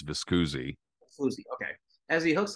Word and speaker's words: Viscusi: I'm pretty sure it's Viscusi. Viscusi. Okay. As he hooks up with Lou Viscusi, he goes on the circuit. And back then, like you said, Viscusi also had Joe Brown and others.